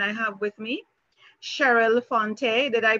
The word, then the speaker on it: Fonteh: And I have with me Cheryl Fonteh. Did I pronounce that correctly, Cheryl?